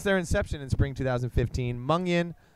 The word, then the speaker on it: Mungion: Since their inception in spring 2015, Mungion, pronounced Mung-Yin, is quickly becoming known for their undeniably explosive and charismatic live shows.